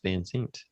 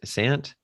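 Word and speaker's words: Van Sant: Um, but uh next week's uh feature film is Drugstore Cowboy by Gus Vans. So we will be Sant.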